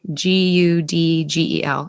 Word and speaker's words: Gudgel: And the other quote that I have is by Andrew Gudgel, Gudgel. I don't know how to pronounce that. So sounds like cudgel with a G.